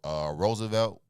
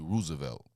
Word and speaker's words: Roosevelt: Just like how we say Roosevelt, when it's really Roosevelt. No, it's not. That's that's a dialect.